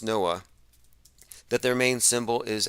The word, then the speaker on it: NOAA: national oceanic and atmospheric administration noaa it's actually pronounced noah that their main symbol